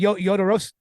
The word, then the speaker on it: Jodorowsky: Josh Miller co-hosts a podcast with Steven Scarlatta, who is the producer of a documentary called Duratsky's Dune. I probably mispronounced that. But basically, Jodorowsky.